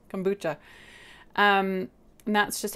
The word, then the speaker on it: kombucha: start making it so it's kombu like a scare boo ghost kombucha um and that's just